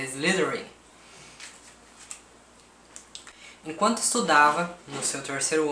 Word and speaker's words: Slytherin: Eu tenho problema com Slytherin, porque eu sempre me confundo na pronúncia, mas é Slytherin.